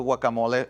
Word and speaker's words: guacamole: Anytime we've had a video where we need to use a salsa or a pico de gallo or a guacamole, and I know I'm not saying it right, you're going to say it the right way.